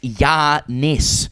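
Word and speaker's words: Giannis: It's pronounced Yiannis.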